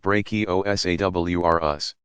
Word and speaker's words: Brachiosaurus: be called brontosaurus and Brachiosaurus pronounced brachio s.a.w are us which weighed around 80